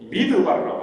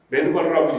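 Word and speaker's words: מדבר: 번째 비밀이 있다는 것입니다 광야를 히브리어로 미드 바르라고 합니다 미드바르 매드 바르라고 읽기도 하는데 미드 바르라는 뜻은 말씀이라는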